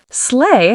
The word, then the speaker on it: sleigh: Sleigh has a silent gh, so it sounds like sleigh.